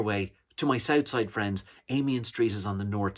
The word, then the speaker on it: Amiens: connolly station is uh of course because the irish refused to pronounce french words correctly which is fair enough because they refuse to pronounce irish words correctly either way to my southside